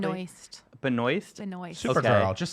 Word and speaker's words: Benoist: Yeah, so we learned last week that Melissa Benoist, did I pronounce her last name correctly? Benoist.